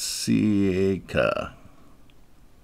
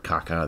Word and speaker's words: ceca: That's ceca. I think that's how it's spelled. If you come close during the test, I'm fine. Pyloric something would be fine. No, please don't call it the pyloric caca. That doesn't sound right.